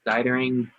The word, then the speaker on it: Dietering: Dietering.